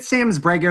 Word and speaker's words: samzbrego: So is it samzbrego? Is that how you pronounce it? Yes, it is.